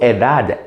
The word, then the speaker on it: edad: The next question we could ask to request one's age, ¿Cuál es su edad? Edad. D-A-D can be pronounced as dad or a T-H.